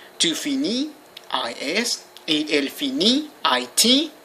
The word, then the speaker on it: finit: Je finis, IS, tu finis, IS, il, elle finit, IT. The T is not pronounced, just the I.